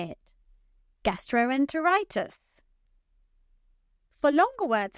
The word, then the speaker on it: gastroenteritis: That's right. It's the fifth syllable. Now you say it. Gastroenteritis.